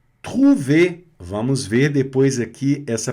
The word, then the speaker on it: trouver: Trouver. E esse tru não pode ser tru, é tru. Garganta, trouver. Tá certo? Sem pronunciar o R.